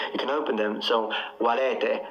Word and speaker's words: valete: That's not how I pronounce them. I closed them. So I went E, O, U for the long ones. You don't need to close them. You can open them.